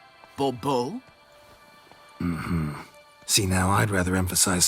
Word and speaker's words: Bourbeau: Monsieur de Bourbeau. The emphasis falls on the last syllable. Bobo?